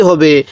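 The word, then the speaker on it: حاء: হরফটার নাম হলো হা এই হাটা উচ্চারণের সময় মুখ দিয়ে হালকা বের করব হা এরকম ভাবে উচ্চারণ করব এরপরে খ এরকম ভাবে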